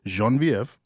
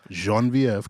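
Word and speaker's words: Geneviève: speak Creole or French, I'm gonna tap into the little French and the pronunciation that I do know. So this is Jenevieve.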